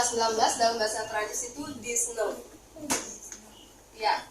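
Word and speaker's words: dix-neuf: dalam bahasa Perancis itu disn Iya X ini bukan dibaca dix Bukan dibaca dix tapi dibaca Z di n kayak n punya biasa kalau untuk snya s-nya enggak usah dibaca tapi diganti G disne Dis disne i disne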